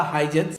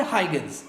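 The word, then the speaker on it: Huygens: इन्हीं के कंटेम्पररी में एक और साइंटिस्ट आए थे जिनका नाम था हाइजेंस या फिर हाइगन्स, जो भी आप प्रोनाउंसिएट करना चाहते हो वो कर सकते हैं।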